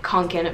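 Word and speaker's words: Kånken: that has a mini kanken backpack i don't know how to pronounce the full name it's like fall raven but the second part says kanken that i know i'm pronouncing right they have bigger ones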